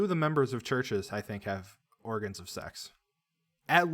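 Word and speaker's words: Chvrches: of the members of churches have organs of sex. At least 2, possibly all of them. A penguin. What's churches? The band, the band Churches. It's you wouldn't recognize it because it's spelled Chiverches.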